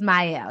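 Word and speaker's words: Mielle: yeah it's my listen I always say it wrong too but I believe it is myel yes said it wrong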